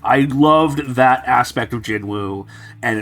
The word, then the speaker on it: Jinwoo: I loved that aspect of Jinwoo, and it's just gone now. But can I clarify? I believe that because again, Korean, the pronunciation is Jinu.